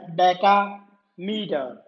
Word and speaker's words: decameter: It's not dam, you can't pronounce it like dam, decameter.